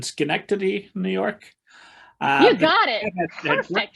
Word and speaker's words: Schenectady: gonna i'm gonna mutilate this with my indiana pronunciation schenectady new york you got it company that uh